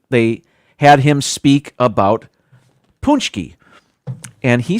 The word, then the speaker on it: Pączki: He spoke with a Polish accent, and they had him speak about punchki. And he said, with his Polish accent, it's actually pronounced Pączki.